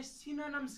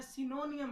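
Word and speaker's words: synonym: बाज़ औक़ात ये जो वर्ड है सिनोनिम, इसको लोग गलत पढ़ते हैं, सिनोनियम पढ़ते हैं। हालांकि ये वर्ड सिनोनियम नहीं है, ये सिनोनिम है, इसको सिनोनिम पढ़ना है।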